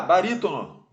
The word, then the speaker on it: barítono: vamos lá letra A barítono barítono é uma proparoxítona baritono antepenúltima sílaba bem mais forte na letra b de